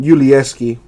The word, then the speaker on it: Yulieski: His name is pronounced Yulieski, if anybody's wondering.